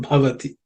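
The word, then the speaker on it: भवति: There are no aspirated words except bhavati. The bha is the fourth letter in the pa varga, so it has to be aspirated with some extra air.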